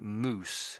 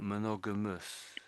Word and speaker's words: monogamous: You said is you're saying moose a little bit moose. But when I'm reading it, I'm more saying monogamous. I'm saying more like us, I think.